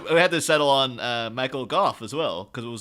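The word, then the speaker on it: Michael Gough: And then we had to settle on Michael Goff as well, because it was like, was it Michael Gauche? What? And then apparently it's specifically says on his IMDb, it's Michael Goff pronounced like cough.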